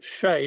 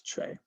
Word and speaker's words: Che: always um originally um i was never sure how to pronounce che um but i i understand now that it's uh named after a place in the ukraine called cherokasi i probably don't pronounce that right um i'd hoped it was pronounced shay based on shay guevara because it's revolutionary but um no apparently it's che but anyway um but